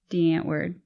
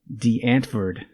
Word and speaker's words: Die Antwoord: Our original picks were Fleetwood Mac and Die Antwoord. Say it correctly. Die Antwoord. That's still not correct. What is it? Die Antwoord. Jesus Christ, South African.